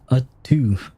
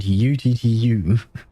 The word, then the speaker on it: U2: Ah, so that's how they pronounce it, U2. I kept pronouncing it UTTU.